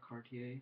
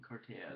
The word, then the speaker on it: Cartaya: So lately I've been watching these videos by this guy, Chris Cartaya or Cartier. I think Cartaya is how you say it.